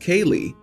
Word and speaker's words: Caeligh: My wife suggested Caeligh, pronounced Kaylee, and yes, she spelled it out.